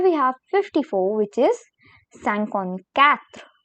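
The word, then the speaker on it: cinquante-quatre: is and here we have 54 which is sankon Kath sankon cat then comes 55 which is sankon sank sankon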